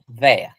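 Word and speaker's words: vair: Pronounced vea.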